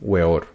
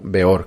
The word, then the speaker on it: Weor: También fue la primera vez en que Víctor Manuel firmó con su primer apelativo Aún Weor, o Beor, que creo que es la pronunciación correcta.